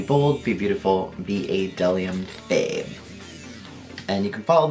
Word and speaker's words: bdellium: The Phase 2 bdellium, that's correct. The B is silent.